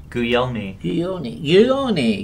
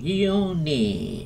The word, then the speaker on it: Guglielmi: Pronounce that last name again. I like it. Guglielmi. Guglielmi.